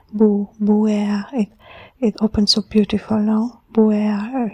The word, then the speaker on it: Buer: We have Buer, it's like 2 syllables, Buer, and they both have a consonant and a vocal.